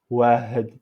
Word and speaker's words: واحد: Donc on dit واحد. واحد. واحد. Pour l'écriture, on peut changer H par le numéro 7. Mais il a mis ici un point pour montrer que on ne prononce pas H, H, واحد.